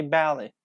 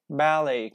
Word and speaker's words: ballet: ballet, gourmet, or rapport, which all copy the French pronunciation without T, like we say ballet, gourmet, ballet, gourmet, rapport, okay, rapport, without T.